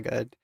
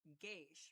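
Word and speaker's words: gauche: Now initially the way that I wanted to read that was geish, right? Somewhat geish because of the g and the a but goch is actually a French word and the proper pronunciation is go.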